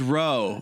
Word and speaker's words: Rowe: Because my last name is Rowe, but it's spelled differently and pronounced that way."